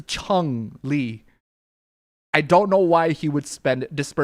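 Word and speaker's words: Chun-Li: So, it's not a Chunley, it's a Chun Lee.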